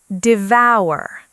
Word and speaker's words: devour: Pronunciation, devour. The second part rhymes with power.